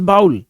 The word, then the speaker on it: bowl: इसको बहुत सारे लोग मिस प्रोनाउंस कर देते हैं bowl. A bowl of milk, a bowl of snacks, but it is not pronounced as bowl. The correct pronunciation is bowl.